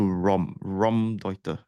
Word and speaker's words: Raumdeuter: I'm going to have at least 3 different pronunciations for this term. Let's stick to Raumdeuter.